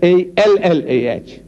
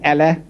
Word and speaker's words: Allah: I said, no man, how you spell, but you must pronounce the way we are asking you to pronounce our language. It is not Allah, it's Allah. Try. Allah, not Allah.